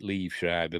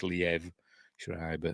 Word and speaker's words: Liev Schreiber: I used to pronounce it Liev Schreiber, but I've been told it's Liev Schreiber, and I can't remember her name.